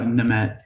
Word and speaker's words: Nehmet: Did I pronounce that Yeah, right? Nehmet. Yeah, Nehmet.